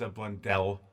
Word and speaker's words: Blundell: Actually, Dave, it's Blundell. I don't know how they do it here. That's cool. That's just the way he pronounces it.